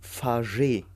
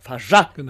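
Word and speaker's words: Fargeat: Denn heute sprechen wir über den Film The Substance von von Coralie Farget. Oder Farjat. Farjat. Farjat, Genau.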